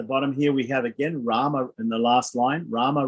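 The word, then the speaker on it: राम: hello to someone is ram ram ram ram of course is rama rama in hindi in the hindi pronunciation they dropped the end the short a at the end of the a the rama uh so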